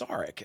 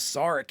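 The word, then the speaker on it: Sarek: it down several times saric is how they pronounced it so um I'm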